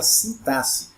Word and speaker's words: sintaxe: estrutura da gramática chamada sintaxe Essa é a pronúncia correta de cintas e se x é pronunciado com letra com dois s né tem por objetivo